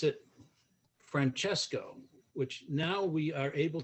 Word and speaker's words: Francesco: How did and I will pronounce it Francesco, which now we are able to say in central New Hampshire, which my grandmother and grandfather were not able to say.